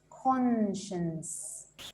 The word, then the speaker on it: conscience: Conscience. Conscience. Conscience. Conscience. Conscience. Exactly. Conscience. Conscience. Yes. If I pronounce it, you know, in my fully Conscience.